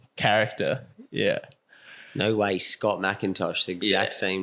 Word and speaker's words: McIntosh: back again with Scott Macintosh is that how you pronounced your surname yeah BR Macintosh that's it yeah okay yeah I